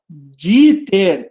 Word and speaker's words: Dieter: Então, aqui, ó, Dieter, D-I-E-T-R, mas se fala como I.